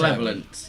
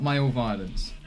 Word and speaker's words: Malevolence: How do you Malevolence. Not male violence. That's what I thought it was. You thought he said male violence. say it? Yeah. Specifically male violence. Malevolence.